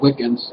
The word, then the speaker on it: Wicca: And we haven't lost as much as so-called neo-pagans, so-called Wiccans, whose spell it W-I-C-C-A is actually pronounced Wicca, by the way.